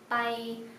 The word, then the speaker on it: ไป: Từ này ma đọc là ma, còn từ này pai đọc là bay, ma bay.